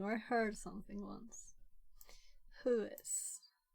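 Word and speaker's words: WHOIS: the data by a house record it is pronounced who is it's not an so look up who is records with who or other stuff so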